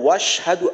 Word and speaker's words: وأشهد: করেন وأشهد أن যেন وأشهد أن না হয় এই হামজার উচ্চারণটা যেন বাদ না যায় যদি মনে করেন বলি وأشهد তাহলে কিন্তু হামজার উচ্চারণটা বাদ হয়ে যাবে তো এখানে বলতে হবে وأشهد وأشهد أن আবার এইখান